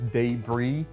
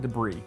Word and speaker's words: debris: beef debris poboys now if you're from New Orleans you probably pronounce this debris but as an Alabama boy I call it debris what we're going to